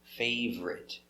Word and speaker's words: favorite: fave er favor favorite favorite favorite remember it's not fave or it it's two favorite my favorite car my